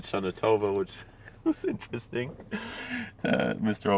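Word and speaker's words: שנה טובה: rabbi in richmond virginia listen to how how he pronounced shanatova like uh with a little bit of ashkenazi uh um accent he didn't say shanatova he said shanatova which was interesting uh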